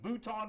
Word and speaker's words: Bouton: Bouton, and I'm pronouncing it Bouton, whether that's right or not, because it rhymes with Mouton.